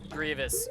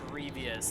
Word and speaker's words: Grievous: in my my life nobody can pronounce Grievous correctly nobody knows how to do it like they say it in Catholic masses sometimes and everybody goes creepiest I'm like no it's Grievous it's like Star Wars and mm it's like